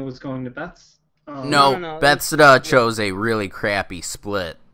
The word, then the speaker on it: Bethesda: Bethesda's. But I'm not Beth? sure. But Hold on, let's stop. Everybody stop talking. We are going to have a pronunciation class right now. It is spelled Bethesda. Bethesda.